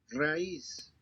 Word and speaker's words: raíz: país, raíz, Raíz, root.